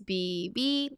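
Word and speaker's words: ㅃ: It's BB. Official romanization is PP, but I'm scared that you will pronounce this as a P. It's not a P. It's a strong B.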